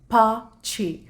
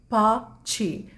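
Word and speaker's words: pace: English का ना पेस लेकिन उसको इटालियन में कैसे प्रोनाउंस करते हैं पाछे पाछे पाछे तो आप इसको यूज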